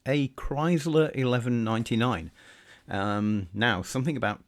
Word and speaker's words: Kriesler: e around so although it's spelt kriesla it's pronounced chrysler and you'll see that the dial markings are